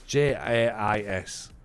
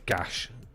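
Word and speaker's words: GAIS: So it's JAIS, not Gash. Gothenburg Altet och Idrott Sällskap.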